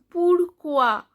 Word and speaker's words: pourquoi: Then pourquoi, OU, pourquoi, OI, OA.